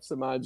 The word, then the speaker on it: Samaje: Samaje.